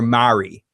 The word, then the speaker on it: Mari: I think her name is Marie or Mari.